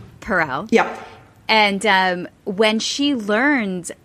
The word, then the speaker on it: Perel: know what i used to call her esther pearl and you had mentioned that many people do mispronounce her name it's astaire that's right perel yeah and when she learned of this group